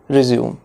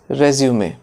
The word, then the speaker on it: resume: No, it is not resume. It is resume.